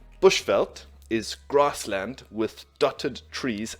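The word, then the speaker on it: bushveld: for us bushfelt okay careful attention to the pronunciation of the second part of this word felt bushfelt is grassland with dotted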